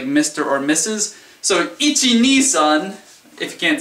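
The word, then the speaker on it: いち: Ichi kind of sounds like itchy, like you have an itchy. The ni is like you have an itchy knee.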